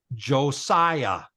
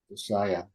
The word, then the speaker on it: Josiah: get over the years you'll get used to where the emphasis is whether it's Josiah or josia okay but even if you said josia people would say oh wow you know that's that's way better than just skipping it yeah